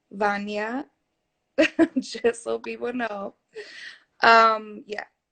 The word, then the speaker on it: Wanja: So my DJ name is, and once again, my name is pronounced Vanya, just so people know.